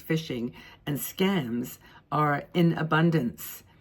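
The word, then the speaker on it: phishing: h i n g it's pronounced fishing and scams are in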